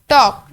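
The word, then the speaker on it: talk: टॉक टी ए एल के, लेकिन जब हम इसे पढ़ते हैं तो हम इसे पढ़ते हैं टी ए के। जो एल है वो हमारे पास साइलेंट साउंड है।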